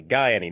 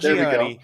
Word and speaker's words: Gaiani: See, I've said it correctly. Gaiani, not Gianni.